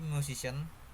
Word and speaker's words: musician: Musician. Base word music. Derived word musician. Suffix ian. Explanation: suffix ian attracts stress to the preceding syllable c, altering the original stress pattern.